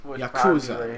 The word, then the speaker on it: yakuza: next yakuza we kill yakuza is how it's pronounced douchebag yeah gold that does exactly 1 33 37.